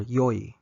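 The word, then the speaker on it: よい: the adjective for good which is e or yo E yo note that there's only one coni spelling for both these pronunciations however the negative conjugation of both e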